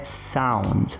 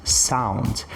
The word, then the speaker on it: sound: Primeira palavra delas é sound, sound. Apesar de eu ter aqui um encontro entre O e U, eu vou fazer uma pronúncia próxima de um A. Então, sound, sound. O segundo caso, about, about.